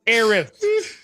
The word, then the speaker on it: Eris: He's not Eris, it's Eris.